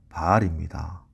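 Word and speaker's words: בעל: 재밌는 것은 여기 남편이라고 표현하는 히브리어 단어, 히브리어 발음으로는 바알입니다. 가나안 땅의 대표 우상 그 바알과 발음이 똑같습니다.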